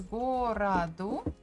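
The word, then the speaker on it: городу: first go whatado so the second one o is unstressed that's why we pronounce it as a gorado but if you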